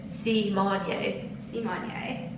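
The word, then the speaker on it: Symoné: I'm so excited Raven Simone came out and said that we've been saying her name wrong her whole lives did you see that I did and we're supposed to be saying it see Monier the thing is yeah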